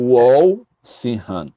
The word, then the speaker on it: Walsingham: É Walsingham, com O, né? Tipo Walsingham. E é a pronúncia mais próxima que nós temos do inglês.